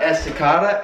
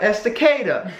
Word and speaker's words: Estacada: Not Estacada, Estacada.